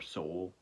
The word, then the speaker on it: Sowell: straggler known as uh Anthony Sowell or Seoul I've heard people say both I'm probably just gonna say Sal because that's how it's spelled Anthony Sowell who after